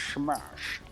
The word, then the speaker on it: Shamash: No, it should be pronounced like Sean Connery, just Shamash.